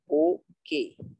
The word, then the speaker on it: bouquet: ও sorry sorry, number BOUQUET, এর উচ্চারণটা হবে বোকে, টি সাইলেন্ট।